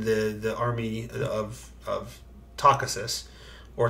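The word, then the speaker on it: Takhisis: the army of of takasisus or takesis or how did the audiobook pronounce it tracy do you remember i feel like they leaned heavily into the isis like it was talk isis um which is a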